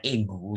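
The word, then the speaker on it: aigu: Nah, ini bacanya itu e ya, bukan e, tapi e. Ini namanya egu ya, egu.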